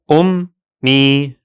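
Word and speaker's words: أمي: So the full pronunciation is ummi, ummi, ummi.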